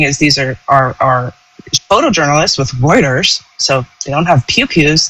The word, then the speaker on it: Reuters: The correct pronunciation is Reuters.